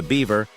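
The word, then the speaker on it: Biewer: $3,500 though it Bears no resemblance to the beaver beer is pronounced Beaver these Yorkshire lookalikes are named for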